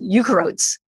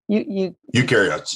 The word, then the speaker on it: eukaryotes: There's another type of cell that was growing called eukaryotes. Eukaryotes.